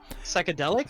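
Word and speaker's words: Psychedelix: Psychedelics? Psychedelics with a Z, man. Delix. A Z on the end right there.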